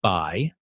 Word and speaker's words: Bai: the great book on that is by Matt Bai, I think that's how you pronounce it, B-A-I, reporter for the New York Times.